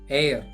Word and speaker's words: heir: a sheet of paper then air h i air which is silent here that means the inheritor